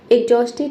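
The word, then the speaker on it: exhausted: एग्जॉस्टेड means होता है बहुत थका हुआ। एग्जॉस्टेड। इसमें भी एच साइलेंट है।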